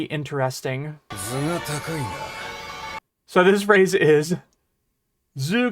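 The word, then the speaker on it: 頭: So this phrase is zoo. It's the same kanji atama, but here it's pronounced zoo.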